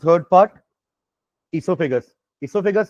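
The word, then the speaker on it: oesophagus: हो जल्दी बताओ what is the third part इससोफेगस इससोफेगस का इजी नेम होता है फूड पाइप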